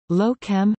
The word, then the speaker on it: Lochem: locum pronunciation is a municipality and a city in the